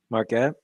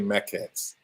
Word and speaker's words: maquettes: Marquette? I was saying it wrong, but yeah, we're going to give it to you close enough. It's actually Maquettes.